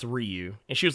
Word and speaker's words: Ryu: if if his name if ryu's name was pronounced Ryu it would be r-a-i uh why you but I said no Ryu is something I said I don't know what the hell your kid's named after but it ain't due for Street Fighter yes I told her